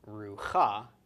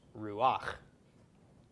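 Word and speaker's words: רוח: rock underneath it so this is not pronounced Ruka but instead pronounced Ruach okay and Ruach is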